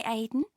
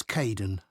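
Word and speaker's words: Kaeden: Hi Aiden. Uh it's Kaden.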